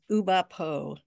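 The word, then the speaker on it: Oulipo: How do you pronounce that French group? It's Uba Po.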